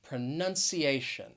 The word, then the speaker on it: pronunciation: also a longer word it has five syllables the stress is going to be on that fourth syllable that a pronunciation the first two syllables have that schwa sound but i think uh probably maybe a little confusing is that c i a it's actually really divided into two different syllables that c a and